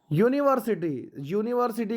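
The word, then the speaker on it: university: है यह देखिए बच्चों यूनिवर्सिटी का फर्स्ट लेटर यू है और यू क्या आपका यू आपका वावेल है लेकिन फिर भी इसमें जो साउंड है यूनिवर्सिटी में आपका वॉइस साउंड ए रहा है यूनिवर्सिटी वाइस शुरू होता है इसलिए चलते हैं इसमें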